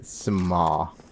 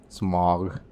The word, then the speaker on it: Smough: Um it's smo. We're going to say smo. Um it's not the correct pronunciation. Um because correct pronunciation is just god awful. and um Dutch. And sorry to the Dutch listeners, but sometimes your language does things that make my mouth angry.